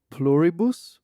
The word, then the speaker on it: Pluribus: So here's how I would pronounce it: Pluribus, because it's Latin. From the Midwest, I'd call it Pluribus, but Pluribus.